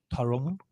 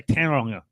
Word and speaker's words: Tauranga: Tauranga. I used to say Tauranga when I was at school. That was terrible pronunciation.